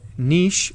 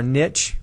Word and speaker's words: niche: likes to live and its roll or Niche or Niche pronounce it either way um is what an